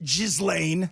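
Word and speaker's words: Ghislaine: And And I want to know what Jiz Lane, that's your name. Don't spell it that way.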